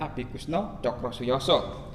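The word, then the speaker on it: Abikusno Tjokrosujoso: Bacanya Abi Kusno Cokrosuyoso.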